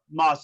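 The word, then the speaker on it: Maus: Moss. It's spelled M-A-U-S.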